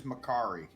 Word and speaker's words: Makkari: his name is Makari.